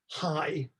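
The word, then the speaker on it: Hay: come to to rest the armenian for armenian armenian as in person is hai that's spelled h-a-y and the name for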